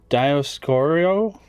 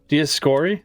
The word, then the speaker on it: Dioscuri: The Dioscorio? Dioscuri. Dioscuri? That's it? Yeah. Meaning... like I said, I remember how to pronounce them.